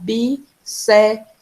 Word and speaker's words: bíceps: Então, a gente separa bíceps em duas sílabas, tá? Ela é uma palavra dissílaba, ela tem 2 sílabas. A gente separa bíceps. E aí ela, de fato, recebe acento no bi, mas é porque ela